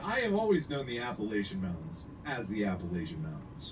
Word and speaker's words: Appalachian: Maine to Alabama the Appalachian Mountain s if we hear you pronounce it appellation we'll throw an Apple at you while it's the Appalachian Mountains yeah and I'm just